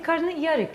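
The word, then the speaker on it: karnıyarık: In Turkey you say karnı yarık.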